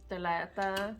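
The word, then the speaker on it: ثلاثة: Talata.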